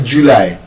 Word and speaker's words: July: No, that word is not actually July. It's not stressed on the first syllable. Like that hmm. The stress is on the second syllable.